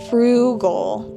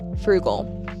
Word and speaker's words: frugal: Frugal with an emphasis on the first syllable. Frugal.